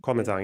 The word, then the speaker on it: Kuomintang: yeah, because well, first of all, the Soviets backed the coalition between how do you pronounce this? The Kuomintang, the nationalists, Kuomintang? Yeah. Kuomintang, yeah, Yeah.